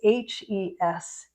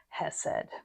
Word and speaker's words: Hesed: And those of you who like to take notes, you would transcribe it as Hesed, Hesed. And that's how I'll be pronouncing it.